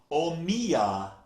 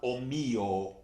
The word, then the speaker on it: O mio: pronunciation notice right away she sang o mio babbino Caro not Oh mio it's an O o mio babbino Caro she